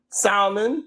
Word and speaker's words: salmon: Also Aaron to Lucas Chicken, salmon, tuna, turkey, etc. All eat meat. You don't pronounce the L.